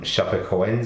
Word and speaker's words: Chapecoense: deeply saddened after the tragedy surrounding players from Chapecoense FC. Did I pronounce that correctly?